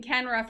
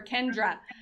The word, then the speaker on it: Kenra: somebody made a joke people are always mispronouncing kenra for kendra so it's now it's